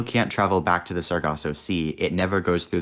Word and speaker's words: Sargasso: i'm just pronouncing it wrong you seem to pronounce differently but sargasso yeah sargasso c to reproduce this is a